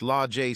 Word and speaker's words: Lage: Now, at 18 years old, Sage had 2 sisters, Age, pronounced Ajay, and Lage, pronounced Lajay Smith, and 2 brothers, Fremont, pronounced Fremonte, and Tremont, pronounced Tremonte Jones.